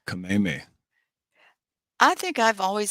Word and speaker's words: Kameme: I remembered Kameme because the way it's spelled, I always think of Kamehameha, but it's Kameme.